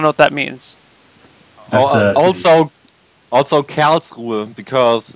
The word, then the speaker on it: Karlsruhe: You're going to have to tell me how to pronounce this. I will send it to you. There. Karlsruhe. Yeah. I don't know what that means. Also Karlsruhe, because it's a studying town and there are only guys.